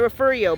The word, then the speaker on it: Refugio: And you are, if you live in this town or Refugio County, they call it Refugio, but it's Refugio. They don't want to pronounce it the real way because they're so pushed away from their heritage over here, right?